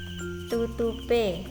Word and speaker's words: tutupe: Dan yang kedua ini tutup plus e, jadi bacanya tutupe.